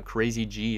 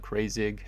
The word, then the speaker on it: Crazy G: like Nick and also Crazy G. It's pronounced not Crazig. Sorry about that, Crazy G.